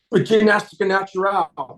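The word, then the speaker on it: Ginástica Natural: Is that the right way to pronounce it? Gymnastica? Gymnastica natural.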